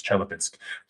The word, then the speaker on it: Chelyabinsk: Well, I got yelled at by a very nice Russian lady during a show, so it's Chelyabinsk.